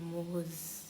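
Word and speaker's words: Mohs: द मोह scale pronounce as MOZE मोहज rates the hardness of James and mines.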